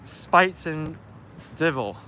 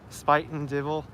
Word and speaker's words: Spuyten Duyvil: oh no Owens saying is pronounced spite Spuyten Duyvil Spuyten Duyvil it's so hard to